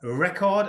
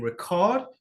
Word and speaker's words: record: Here we've got record and record. Two different meanings of the same word. The difference is the stress on that word.